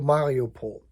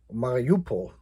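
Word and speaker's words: Mariupol: right around odessa to mario paul marupo i guess you can pronounce it either way and of course the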